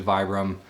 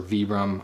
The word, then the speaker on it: Vibram: you can see the vibram Vibram sole or veeram i've heard it pronounced either way but always a good